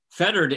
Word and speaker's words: fettered: i made in life fettered is hard because uh especially with an english accent when you don't pronounce the r it could be feted nobody knows quite what